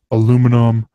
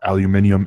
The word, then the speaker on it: aluminium: Like everything is aluminum or aluminium, as he pronounces it, and a lot of the British people pronounce it, and just plastic and